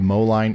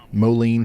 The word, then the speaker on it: Moline: Verona more flooding in the Moline area. Molen, sorry.